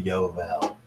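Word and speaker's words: יובל: It's actually Yovel. It's a Yod, a Vav, a Bait, and a Lamed.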